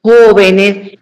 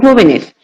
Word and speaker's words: jóvenes: Claro, sabiendo que la antepenúltima sílaba es nuestra la mayor fuerza de voz, como en el caso de música, médico, pájaro, jóvenes. Y me voy a detener en jóvenes porque jóvenes, cuando escribimos